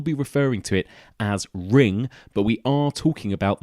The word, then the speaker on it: Ringu: the movie is called ring goo or ring it's spelt ring goo but I believe actually the U is supposed to be silent so for the purpose